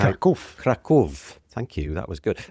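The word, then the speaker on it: Kraków: I don't know how Kov. Thank you. That was good. And the reason Machek is correcting my pronunciation is because Machek is actually from Poland.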